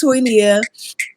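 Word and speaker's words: Toinia: mom um named me toy Nia and Nia in Swahili means purpose so you know it was it was on purpose my name is pronounced twinia and my son has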